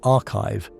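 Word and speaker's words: arXiv: They appeared on AORV, which is pronounced archive, the preprint server where astronomers post their findings before they go through formal peer review.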